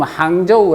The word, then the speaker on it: 항저우: 거죠 그 지금 뭐 우리가 항주 라고 하지만 요즘 항저우의 라고 발음 하죠 예 그런데 거기 사람인데